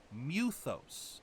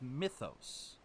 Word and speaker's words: Mythos: not see you damaged why do they keep pronouncing it muthos it's not his accent I have heard at least three different accents and the man himself self call call Clive muthos instead of Mythos even if it's Mythos